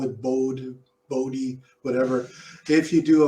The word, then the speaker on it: Bode: and if I did a boat well it's pronounced body but I call it Bode Bode whatever if you do a bold plot